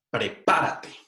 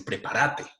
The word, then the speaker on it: prepárate: puntito para parte tonto con el acento en la sílaba pa es una palabra esdrújula by the way pero las variedades 12 antes ponen el acento la prominencia sentada en la siguiente sílaba y se prepara te prepara te dicen los argentinos prepárate entonces bueno bien